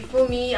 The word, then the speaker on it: Fumi: this train, but Juvia's did a collaboration with Fumi, I think that's her name. That's how her name is pronounced. With Auntie Fumi.